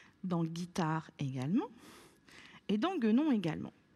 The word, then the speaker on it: guitare: Je te demande de faire la même chose dans les mots un guépard, une guitare et une guenon.